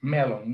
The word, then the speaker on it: melon: Then melon, okay, here in Latin America, all right, melon is the same, almost the same pronunciation, just the accent is at the beginning. Melon, no melon, is melon.